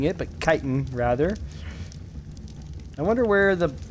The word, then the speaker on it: chitin: have any Titan as I'm told it is pronounced not chitten like I've been pronouncing it but chitin rather I wonder where the I want I